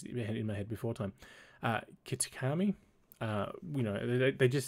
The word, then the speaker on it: Kitakami: trip to a new area, the land of Akitake. I really should pronounce these things in my head before time. Kitakami.